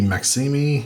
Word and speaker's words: Maxime: There is the French teacher, Olympe Maxime, I think is how you say that, or Maxim.